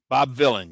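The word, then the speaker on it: Bob Vylan: He sounds like it's his name sounds like um Bob Bob. Bob Villain. Yeah. Bob Villain. Villain. Villain. villain. And he doesn't even spell it like villain.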